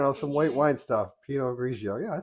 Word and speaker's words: Pinot Grigio: Pinot Grigio.